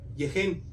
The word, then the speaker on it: Gehenna: Y una de ellas, utilizada por Jesús, fue Gehenna, que más o menos se pronuncia Yehen.